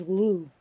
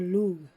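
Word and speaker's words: Lugh: mercury and Wen sometimes Lou or lug depending how you want to pronounce the old way or the new way but however she was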